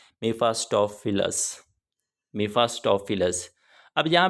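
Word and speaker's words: Mephistophilis: यहाँ पे आप ई ई भी लिख सकते हैं, दोनों ही इसके जो स्पेलिंग होंगे वो करेक्ट होंगे। मीफास्टोफिलस, इसका नाम है जी मीफास्टोफिलस।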